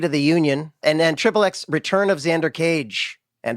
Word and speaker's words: xXx: death of Xander cage styliz is xXx and pronounced trip XX there you have it